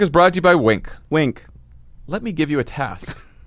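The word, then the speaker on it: Winc: Well, you'd use Wink. Okay. It's spelled W-I-N-C, and they make it easy to discover great wine.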